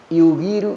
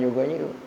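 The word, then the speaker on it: يُغِيرُ: Yugiru gitu bacanya, bukan yughayyiru.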